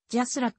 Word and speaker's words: JASRAC: て使っており jasrac と発音する以下この記事で